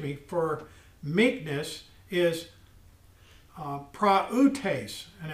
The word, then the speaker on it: prautes: for me excuse me for meekness is uh prautes and it's spelled p r a u t e s p r a u t e s pronounced pra utase now i'm going to read this and what